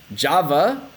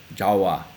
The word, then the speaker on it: Java: on the speaker and it can also be pronounced as a w so Java can be pronounced as Jawa depending on the speaker